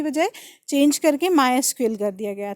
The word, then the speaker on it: MySQL: तो एक बार बुक में जो लिखा है उसको आप एक बार क्रॉस ट्रिली कर लेना, जो मैं बोल रही हूँ इसका प्रोनाउंसिएशन माई एसक्यूएल ही है।